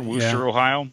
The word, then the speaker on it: Wooster: um let's see oh a Worcester Ohio Wooster Ohio yeah we're absolutely issue about the pronunciation of Worcester or Worchester Wooster Ohio yeah that's it yeah they did mention